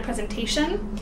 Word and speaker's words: presentation: adding an ATI oh and it's present a shun it's almost like two endings it has to do with how things sound there's no other real